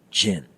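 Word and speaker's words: ချင်: need to know the auxiliary verb chin often pronounced Jin which is the equivalent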